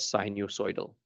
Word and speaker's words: sinusoidal: Spelled like this and pronounced as sinusoidal.